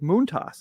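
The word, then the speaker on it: Montas: episode and then uh Frankie as we learned to pronounce his name this week moont toss is how he asked you to pronounce it is what was yeah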